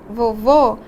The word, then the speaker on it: vovô: Se eu disser vovô, então o que aconteceu? Eu fechei aí a minha vogal.